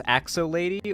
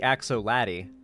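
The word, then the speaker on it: Axoladdie: Thank you for not pronouncing it as Axo Lady or Axo. Well, I mean, it's obviously Axo Laddie. I mean, like, Axo and then Laddie.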